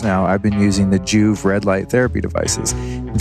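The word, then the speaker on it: Joovv: so for years now i've been using the juve red light therapy devices in fact at the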